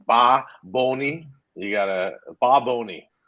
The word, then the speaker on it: Bad Bunny: I was saying Bad Bunny, and he was getting mad at me. No, he was like Ba Boni.